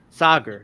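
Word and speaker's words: Saagar: Sager. That's his name.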